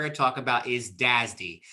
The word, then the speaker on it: DASD: first one we're going to talk about is dazdy it's pronounced this word and this word if you're not familiar with mainframes uh you'll hear people use this term all the time they do not say dasd they say dazdy they pronounce it okay so